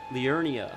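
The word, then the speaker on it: Liurnia: it's uh next Zone Leonia that's how you say it it's Leonia of the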